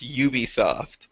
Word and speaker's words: Ubisoft: wrong then I just I learned this today that it's it's Ubisoft I leer because Dan Hammer was talking to me and he was like I had to learn how to say it properly because I've been saying Ubisoft forever do you know why it's Ubisoft um it's it's a it's a short for ubiquitous software that's why they go